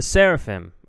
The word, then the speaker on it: Sserafim: there dude that was tight the seraphim the seraphim okay now I know how to say it